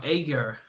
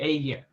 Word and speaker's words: Eger: Egar or Egar, I think the correct Hungarian pronunciation is actually Eger or something like that.